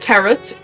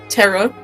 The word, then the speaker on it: tarot: Earth, can I Earth, can I please mention that um it's not pronounced terret, it's terror. This the T is silent.